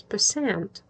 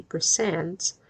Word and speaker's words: percent: That is why we never say percents. Поэтому мы никогда не говорим проценты, как percents. Такая форма не существует. И акцент падает, ударение падает на второй слог.